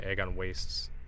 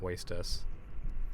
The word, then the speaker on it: Agon Wastes: I remember when I used to say egg on wastess because it sounded cooler than egg on wastess, but uh it's egg on waste, not wastess.